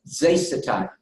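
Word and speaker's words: ζήσεται: And how you pronounce it in Greek? In Greek, it's zesitai.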